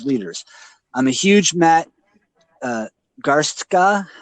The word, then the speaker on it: Garstka: I'm a huge Matt Garstka, is that how you say it? Yeah, Garska.